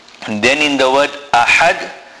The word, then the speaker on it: أحد: And then in the word ahad, the ha is a big ha which must be pronounced from the center of the throat.